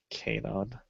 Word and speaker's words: Kanon: This robot voice is telling me it's pronounced Kanon. Kanon.